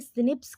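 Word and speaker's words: SNPs: option A डीएनए में एस अ एनपी single न्यूक्लियोटाइट polymorphism यानी सिनिप्स के रूप में उच्चारण करते हैं इसको एस एस एन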